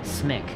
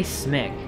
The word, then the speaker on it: CMYK: They pronounced it smick.